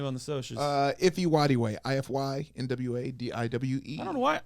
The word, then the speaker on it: Nwadiwe: Because truly it's Nwadiwe. Yeah. So it's like you pronounce it's the N and W at the same time. Yeah. Nwadiwe.